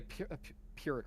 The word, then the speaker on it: Pyrrhic: I mean, it would be a Pyrrhic, right? That's how you say it in English.